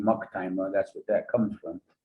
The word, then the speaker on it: Maktima: And Hopi on my father's side, that's the name Maktima, that's what that comes from. That's how it's phonetically pronounced, Maktima.